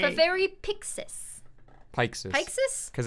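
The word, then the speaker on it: Peixes: to say the very pixis pikes because it's pike oh pike your name is fefery pikesus some people also say pikesies like pike and pixies yeah but i think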